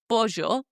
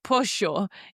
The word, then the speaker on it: pollo: earlier this episode about the double L sound, how it's pronounced like J, like pollo. Okay. In some areas of Argentina, they pronounce it like a sh sound instead of jo. It becomes this like S sound. So they would say stuff like pollo.